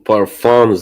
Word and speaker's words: parfum: By the way, I was saying I will stop saying parfums the more because I'm not American.